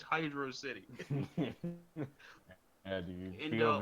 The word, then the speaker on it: Hydro City: that man was about to say hydrosity. No, because people like QB like, oh, Hydrosity, Hydrux City, Hydro City. Dude, people pronounce it so stupid. It's Hydro City.